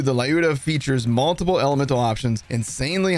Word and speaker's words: Lyuda: I'm not sure how to pronounce this. I've been told by Russian viewers that it's Lyuda, but I've always said Lyuda, so I'm going with Lyuda.